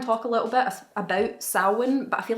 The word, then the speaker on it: Samhain: samhain and i'm from a dyslexics out there it's spelt samhain that's how i remember how to spell it